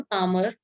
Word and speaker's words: calm: L silent होता है इसमें। हाँ इसमें एल साइलेंट है, इसको हम काम बोलते हैं, एल इसमें साइलेंट है, काम, काम बोलते हैं इसको, ठीक है।